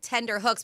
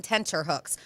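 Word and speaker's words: tenterhooks: So, so people say on tender hooks, but it should be on tensure hooks.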